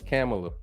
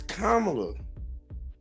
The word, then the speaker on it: Kamala: No, it's Kamala. It's Kamala. Kamala Harris. Just like it's Giannis Antetokounmpo.